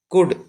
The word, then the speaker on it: could: कुड, COULD, इसको कुड पढ़ते हैं। इसमें एल साइलेंट होता है, कुल्ड नहीं बोलते, इसको कुड बोलते हैं।